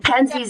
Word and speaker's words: Penzeys: And Penzies is spelled Penzeys. Penzeys.